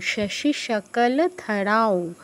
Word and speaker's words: শশিশকলধরাং: আচ্ছা, অনুসার পর ও আছে, তাহলে ধরাও, ধরাও, শশিশকলধরাও।